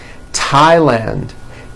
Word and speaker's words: Thailand: spelled with a th they are pronounced as if they were spelled with a normal t like that and these words are thomas thompson teresa thailand thames like the river